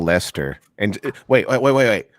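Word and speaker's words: Leicester: how would you spoil a community called Lester Elle est er okay obnoxious le i CH es tu that's only because you saw it no no it's only because you said how would you pronounce Lester kind of prep probably the same way you pronounce werster a little bit yeah but we see it's but it's le I see est ER which is always super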